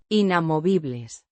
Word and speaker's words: inamovibles: Inamovibles. Means unmovable or immutable. Pronounced inamovibles. with a stress on the third syllable.